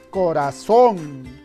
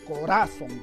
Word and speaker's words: corazón: es la palabra corazón dónde está la mayor fuerza de voz corazón parece que sí está en la sílaba son a ver tal vez esté en la que haber tal vez se ha estropeado el corazón no decimos corazón ya sea grave corazón